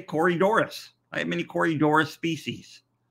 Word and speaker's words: Corydoras: what you're talking about but it's wrong when you say corridorah so Corey Doris oh yeah Corey Doris whoa